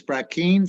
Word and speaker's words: Brackeen: uh I'm not sure how to say this brackeen versus Holland that's correct the interior secretary um